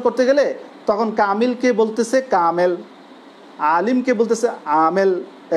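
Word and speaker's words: كامل: যেমন কামিল, আরবিতে বলা কামিল, কিন্তু উর্দুতে এই কামিল শব্দেরই উচ্চারণটা আমরা করে থাকি কামেল।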